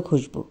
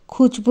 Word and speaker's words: খুশবু: পুনরায় দাঁতে দাঁত চাপলো খুশবু খুজবু নয় খুশবু হোয়াট এভার নামে কি